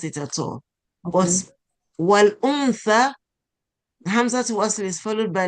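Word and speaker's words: وَالْأُنْثَى: So we get to pronounce the sukun. So we say wal Hamza the ma'u. Wal untha.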